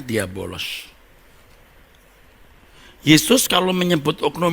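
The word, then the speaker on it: διάβολος: Oh iya bolos Hai ini membacanya diabolos Hai Yesus kalau menyebut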